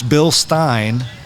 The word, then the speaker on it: Bilstein: No, it's Bilstein, like a beer stein. Get it? Or Frankenstein. Bilstein, beer stein, Frankenstein. So you have to say it kind of angry German.